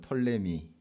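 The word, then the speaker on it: Ptolemy: 이집트 애굽 에 그룹 프톨레미 우스 영어식 발음 톨레미 etl m 이라 하는데 털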